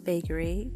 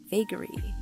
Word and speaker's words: vagary: And it kind of rhymes with bravery. Vagary, bravery.